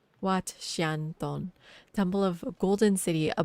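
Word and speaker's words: Wat Xieng Thong: It's pronounced Wat Xianton, Temple of Golden City, a Buddhist temple.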